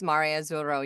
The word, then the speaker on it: Mare Azzurro: way, you're gonna need to pronounce Mare Azzurro. You're gonna need to roll the R's. And I was like, yeah, you're gonna have to be more, it's gonna have to sound more Italian.